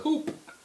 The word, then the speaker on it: Coup: the first thing I did when I open Coupe.